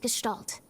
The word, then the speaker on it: Gestalt: ditch rescue Plan called project Gestalt that's how you pronounce that g do you still not